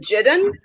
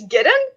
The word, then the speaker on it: Gideon: I always pronounced it Jidden. Like in my brain, it's always been Jidden. So like you're saying Gideon, and I'm like, who?